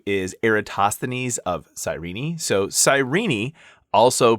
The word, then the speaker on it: Cyrene: So, Sirenei, also pronounced Kyeni, or if you lived in the time of Aeritoines, you may have actually pronounced it Kuren, um, is actually modern-day Libya.